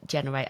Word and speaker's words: G3NR8: the name generate okay so I've spelled it out you know phonetically for those of you who may be reading it like me but you say generate and that makes total sense to be honest yeah